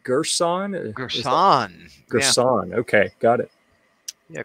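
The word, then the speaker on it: Girsan: Gerson, yeah.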